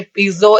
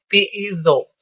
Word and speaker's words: piezo: अच्छा, इसकी ना दो प्रोनाउंसिएशन है, इसे पीजो इलेक्ट्रिक इफेक्ट भी कहते हैं और दूसरा इसको इस तरह भी पढ़ते हैं पीईजो। पीई पीई की मतलब थोड़ी सी प्रोनाउंसिएशन निकालनी है, पीईजो इलेक्ट्रिक इफेक्ट। ठीक है, तो आप इसको पीजो इलेक्ट्रिक इफेक्ट पढ़ो या पीईजो इलेक्ट्रिक इफेक्ट पढ़ें, दोनों प्रोनाउंसिएशन आर गुड।